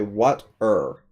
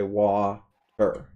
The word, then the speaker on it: water: So you could pronounce it the other way. You could say what-er, but that's not how we say it. We say wa-er.